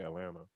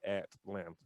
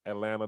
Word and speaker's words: Atlanta: the way I say Atlanta. Like we don't nobody from Atlanta pronounces the T. Only people from outside of Georgia say Atlanta. Everybody else down here says Atlanta, Georgia.